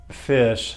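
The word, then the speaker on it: Phish: term music loosely here, is Fish, spelled with a P and two H's.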